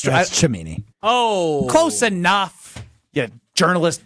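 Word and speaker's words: Cimini: This is per Rich Camini, I believe. Did I say that right? Help me, Stro. Yeah, you said it right. No, it's Chimini.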